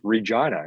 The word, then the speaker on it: Regina: It's even in Saskatchewan where you wouldn't think of, like, Google Regina. It's the city that rhymes with fun.